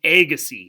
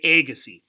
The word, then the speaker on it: Agassiz: is who's Lewis agassi's well as name you pronounce his last name Agassiz say Agassiz and you may have heard that word Agassiz